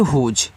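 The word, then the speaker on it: whose: तो इसको पढ़ते हैं हुज।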